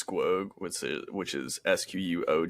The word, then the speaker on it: Squoge: Cole so on Spotify and on YouTube it's squog which which is sqo G which everybody mispronounces but that's okay I know it's a